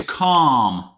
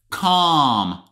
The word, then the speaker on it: calm: good number five is calm calm listen up there is a silent letter in this word calm which one is it l don't say Cal no calm calm instead of calm you